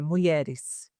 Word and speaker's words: MulherEHS: A pronúncia correta é mulheres.